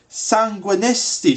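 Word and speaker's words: Sanguinesti: 75 sanguistine staff or as it's actually called sanguinistie stuff yeah i've been pronouncing it wrong the entire time sanguine estate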